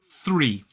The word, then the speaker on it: three: Really important to get that TH sound right, otherwise it can sound like a very different word, which would be this word. This is free. So the key to pronouncing the difference between 3 and free is getting that first sound right.